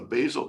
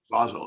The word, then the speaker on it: Basel: you're not part of the bazel convention though those actually pronounce basel excuse me those uh